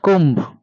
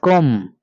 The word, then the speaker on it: comb: We have to pronounce not comb, it is comb. Here, letter B is silent.